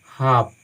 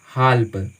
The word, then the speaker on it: half: पहले L letter आया, तो इसको हम पढ़ेंगे हाफ, नॉट हाल्प, वो गलत उच्चारण है, हम इसको पढ़ेंगे हाफ, ठीक है।